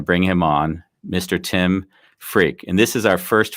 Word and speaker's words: Freke: No, my name really is pronounced Freke.